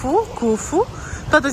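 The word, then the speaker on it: Khufu: Now we're going to see the solar boat, Curfu's boat. Cuf.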